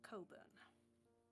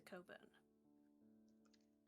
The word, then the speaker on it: Cockburn: Yes, Victor Coburn. You'll probably have to correct the names on the notes and clues later. Don't worry, it's spelled like this. He reaches over and he helps you spell Cockburn.